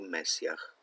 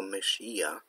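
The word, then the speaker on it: משיח: pomazaniec, brzmi po hebrajsku Mesjach. Pomyliło mi się trochę z angielską wersją tego słowa. Zresztą pisze się to tak samo, z tym H na końcu. Po prawdzie po hebrajsku wymawia się to Mesija, i Żydzi czekają na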